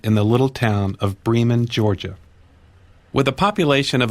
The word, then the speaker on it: Bremen: Vienna Cairo not Cairo it's pronounced a distinctly southern way Bremen in this case clothing